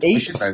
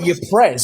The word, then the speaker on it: Ypres: Eeps, is it that Eeps? Eeps, that's it. Eeps. Well, he's just come back from Eeps and Yeeps. It's spelt Eeps, but it's spelt with a Y. Ypres, isn't it?